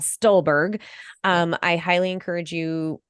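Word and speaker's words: Stulberg: on here Brad stolberg I've said it wrong before stoolberg it's Brad stolberg um I highly encourage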